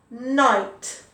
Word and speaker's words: night: no i no i night okay so that has the i sounded and it's spelt with an igh very confusing very confusing igh can make an i sound number two light le